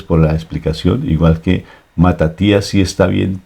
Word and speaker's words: Matatías: Igual que Matatías sí está bien pronunciado, porque Matatías es en griego y se traduce en hebreo, que es Matías.